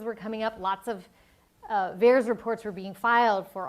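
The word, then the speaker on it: VAERS: event reporting system or vares rhymes with bears and this is a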